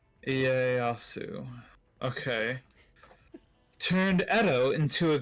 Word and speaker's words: Ieyasu: It's Tokugawa Ieyasu. I'm butchering everything. Turn Edo. Look, it's not your fault that you have to pronounce the I-E-Y as Ie. Ieyasu.